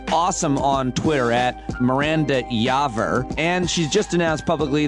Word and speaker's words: Yaver: i'm very excited to have a doctor miranda yaver wait did i say your name wrong again no you said it correctly oh